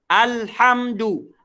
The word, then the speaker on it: alhamdulillah: alham alham alham salah Hai kirim aja alham alhamdulillah alhamdulillah baru tool nah cepat saya alhamdulillah alhamdulillah